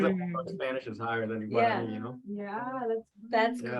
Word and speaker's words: Guarani: It's like Guarani. I'm not pronouncing that right. Yeah, you are.